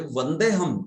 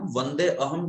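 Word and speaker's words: वन्देऽहम्: तो वंदे प्लस अहम बोलते हुए वंदे हम ऐसे ही बोलना है। वंदे अहम कभी मत बोलिए, वंदे हम बस। वो अ बीच वाला बिल्कुल प्रोनाउंस मत कीजिए।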